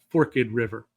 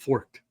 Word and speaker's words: Forked River: k d River and we say Forked River not forked just so you know we know how to pronounce things up here we've